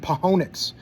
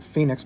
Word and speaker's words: Phoenix: And in those last five games, this was verse New York, LA, Las Vegas, and Pahonics. I know you normal people pronounce it Phoenix, but I call it Pahonics.